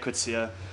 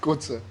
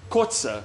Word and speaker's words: Kotze: coming in today's like did I say it right no wait what's I say it right I'm so sorry what is it kza kza yeah and JJ kza wait